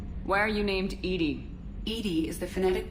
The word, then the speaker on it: EDI: is a joke why are you named Edy Edy is the phonetic pronunciation of e di that is an acronym